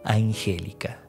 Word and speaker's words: Angélica: le dijo Me llamo Angélica el nombre le hacía honor a su belleza nombre con acentuación en la antepenúltima sílaba que acompañaría a Vicente